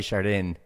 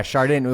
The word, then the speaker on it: Chardin: up I know I I always said te hard day shard in because that's how it's spelled but um fancier people have been trying to get me to say it the French way um but yeah shardan